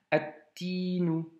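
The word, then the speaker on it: التين: Donc si c'est une lettre solaire, vu qu'elle a la shedda, le alif lem s'écrit, bien entendu. Mais par contre, on passe tout de suite à cette lettre. Donc attinu. Tu vois? Attinu. Et le alif lem, on n'entend pas le lam, tu vois?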